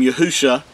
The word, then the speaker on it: Yahusha: This is the Mashiach's name, Yahusha. This is from left to right. The first three letters are pronounced as Yahu, and the last two letters are Sha.